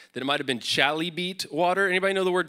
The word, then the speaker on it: chalybeate: I clicked a button to hear someone say chalybeate on Google so I can make sure I was saying it right.